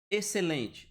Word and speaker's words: excelente: Esse X não está sendo pronunciado. Excelente.